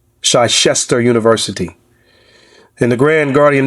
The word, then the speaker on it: Chichester: by Professor Hakeem Adai from, I believe it's pronounced Chichester University.